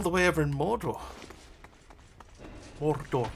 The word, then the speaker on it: Mordor: Mordor, I think is how it's the preferred pronunciation. Mordor.